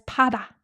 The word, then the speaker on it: 받아: 받다는 받 plus 아, right? 받 plus 아. And it would be pronounced as 바다.